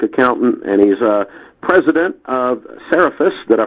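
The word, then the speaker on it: Cerefice: For those of you that don't know, Tom's a certified public accountant, and he's president of Seraphis. Did I pronounce that correctly?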